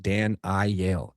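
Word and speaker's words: Daniyal: Pronounced Dan I Yale.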